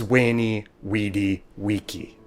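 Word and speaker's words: veni vidi vici: said wing carey and why caesar's phrase was wayney weedy wiki now before you go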